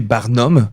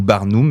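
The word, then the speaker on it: Barnum: sont créés grâce à l'effet barnom ou barnou, dépendamment comment vous voulez vous le prononcez. C'est B A R N U M.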